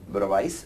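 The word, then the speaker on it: Bravais: here uh first thing the S is slightly silent in brais so it has to be pronounced as bra latices uh in English often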